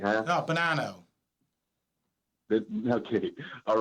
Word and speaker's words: Bonano: No, Bonano. Okay, all right. Listen, I'm a citizen of... Some people have a difficult time pronouncing my name.